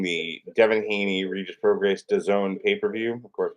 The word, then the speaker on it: DAZN: You're watching the Devin Haney Regis Prograis DAZN pay-per-view. Of course, we know that DAZN rhymes with calzone.